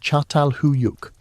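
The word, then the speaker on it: Çatalhöyük: Chatal Hoyuk, pronounced Chhattal Huyuk, flourishing around 7,500 B.CE.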